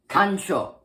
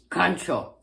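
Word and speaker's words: カンチョー: When you're just facing someone, just try to sneak up on someone, you use kancho. Ka-n-cho. Kancho.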